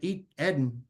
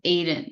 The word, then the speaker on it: Eden: Eden, come on. Hi everyone. It's pronounced Aiden. No worries. I'm always having to correct people because it throws them off.